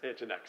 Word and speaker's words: NGINX: So wait, how do you pronounce Nginx? Nginx.